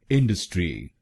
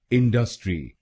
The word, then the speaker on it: industry: और ये ध्यान रखिएगा कि हमको पहले शब्दांश पर यानी IN पर जोर डालना है, पर गलत प्रोनाउंसिएशन में हम दूसरे शब्दांश पर यानी DU पर जोर डालते हैं। इंडस्ट्री, इंडस्ट्री।